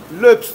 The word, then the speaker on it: löps: löps diye okunur.